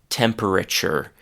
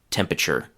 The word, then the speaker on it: temperature: For example, no one says temperature. In fact, they generally say temperature.